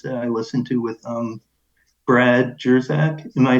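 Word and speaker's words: Brad Jersak: episode of yours that I listened to with Brad Jerzak.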